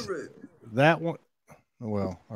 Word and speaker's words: Uluru: I still want to know how to pronounce Uluru. You Uluru, just and did it. No, I did. just It's Uluru. that one. Well, all right, Uluru, That's it.